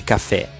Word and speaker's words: café: seja cafezinho vende café qual a sílaba tônica de café fé café fé sendo pronunciado com mais intensidade então em cafezinho a